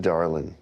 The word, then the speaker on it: Darlin: Darling.